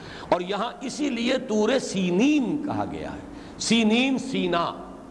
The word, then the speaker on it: سینین: صحرائے سینا، یہ ہے، سینین اس کا تلفظ ہے، یہ جمع کا صیغہ